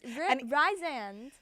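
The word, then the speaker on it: Rhysand: I'm just going to continue to say his name wrong. It's Rise. It's definitely Ree as Rise Risand.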